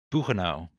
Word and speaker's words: Buchenau: how do you pronounce that? Buchenau.